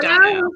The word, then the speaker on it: Dono: Did I pronounce it correct? Dono. Yeah, Dono, 15, and life partner with Jules.